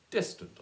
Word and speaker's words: distant: of five and six hear the word distant is at a distant or is it distant and the answer is distant I hope with the stress on the first simple are you really over